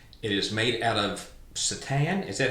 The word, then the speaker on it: seitan: It is made out of seitan. Is that how you pronounce it? S-E-I-T-A-N? Okay, well, and actually it's interesting because I think it's pronounced seitan or something like that, but it is actually like a wheat product.